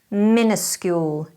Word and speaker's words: minuscule: It's quite common for Brits to incorrectly use an I instead of the first U. This could be because that sound is unclear in the pronunciation, minuscule.